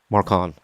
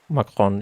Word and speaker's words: Macron: Marcon. Macron.